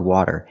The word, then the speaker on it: water: When we say water, we don't even say T, we say R, like water, water.